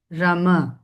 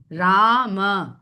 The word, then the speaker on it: राम: तो अगर हम रामा लिखते हैं अंग्रेजी में तो हम राम नहीं लिखते हैं। हम उस म को एक स्वर प्रदान करते हैं। राम राम म कहने के लिए मुंह खुलेगा और राम मुंह बंद जो सही उच्चारण नहीं है। राम के लिए सही उच्चारण है राम।